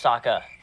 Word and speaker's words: Sokka: But when you watch the live action, My name's Sokka, rhymes with Aka and Waka Waka.